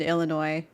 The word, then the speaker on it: Illinois: If you pronounce the S in Illinois, we're having a fight.